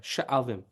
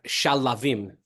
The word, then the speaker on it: Sha'alvim: Oh, yeah. Sha'alvim. That's exactly how you spell it. Yeah. People always think it's Shalavim, right?